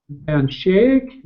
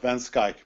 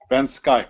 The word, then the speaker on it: van Schaik: by uh uh Paul Van Shake did I pronounce that correctly Paul you can close enough van Skye but that's close enough Ben shik Ben sky like school with a K okay I got it